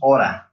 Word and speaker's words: ought to: It's pronounced oughta. And had better with the passive voice to talk about advice. So all oughta, this is pronounced like this, oughta.